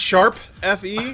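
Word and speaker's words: ♯FE: It's called Tokyo Mirage Sessions #FE, which is pronounced sharp FE.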